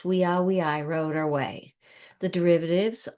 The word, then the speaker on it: via: Remember our V's are pronounced as W's. Weii, wrote our way.